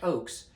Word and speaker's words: Ochs: osprey edx uh the eric ox eric oaks i've mispronounced his name so many times eric oakes sent me as a